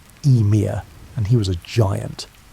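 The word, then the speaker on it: Ymir: The first being to emerge from the ice was Emir pronounced Eir and he was a giant.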